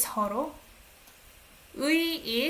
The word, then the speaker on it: 서로의: 서로, what is 서로? 의 is pronounced as 에. 서로의.